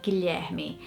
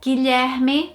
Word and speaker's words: Guilherme: So I think people here would try and say it Guilherme. Absolutely would struggle. Definitely would struggle with the name Guilherme here.